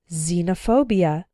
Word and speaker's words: xenophobia: ex-girlfriend ex-husband or ex-wife when X starts a word then it's pronounced like Z there are very few of these words in English but a couple of them are xenophobia xylophone and Xerox xenophobia means fear of